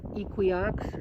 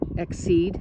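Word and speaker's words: Excede: vaccine, and dewormer, and Equiox, no, I'm saying it wrong, Exceed, right, Exceed, and Dorm Gel, and a couple other things.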